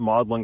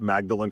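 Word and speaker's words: Magdalen: Uh they call it Mlin College. I call it Magdalan College. I don't know. Anyway, they they pronounce things differently, but we're on the very famous Addison's Walk.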